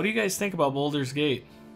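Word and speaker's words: Baldur's Gate: So what do you guys think about Boulder's Gate? Boulder's Gate, yes, I did say it right.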